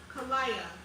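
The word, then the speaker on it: כליה: In Hebrew, kidney is pronounced kalaya.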